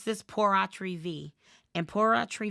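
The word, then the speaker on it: pur autre vie: v a life estate porri V Christina at the end of this if you want to ask me then I will answer that question but not right now remember this V rhymes with Fe and Fe means it's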